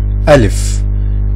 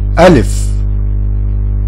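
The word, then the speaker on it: ألف: To pronounce this word, you have to open your mouth and say it from your throat. Put your hand on your throat and open your mouth and say A. A. Alif.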